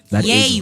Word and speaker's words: Ye: I am Ye. Yay. Kanye, I am Yay. I am Yay. I am Yay, man. That's how you pronounce it.